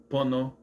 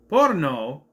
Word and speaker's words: Pono: Pono, this will be. And by the way, he's calling him pono. Pono. Pono. Pono. P O N O. Pono. Not porno. Not porno. Pono.